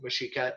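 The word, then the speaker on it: Mexica: which included absorbing other nearby mashika settlements again mashika m-e-x-i-c-a and secure its position within the hierarchy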